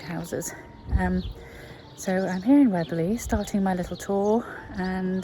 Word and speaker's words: Weobley: Well, I have arrived in the village of Weobley. It's spelt W-E-O-B-L-E-Y. So you think it's Weobley or Weobley. Anyway, it's not. It's Weobley.